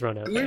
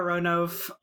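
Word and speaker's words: Ronove: i was definitely a roanoff until i realized that it's actually kind of important that his name is three syllables long yeah totally for what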